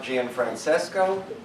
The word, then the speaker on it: Gianfrancesco: As- So, then we will move on to our speaker, Gianfrancesco. Did I pronounce it right? Yeah, I'm sorry. You got the hard part right.